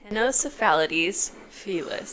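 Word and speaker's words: Ctenocephalides felis: There is a silent C in front of the T, which is one of my first complaints.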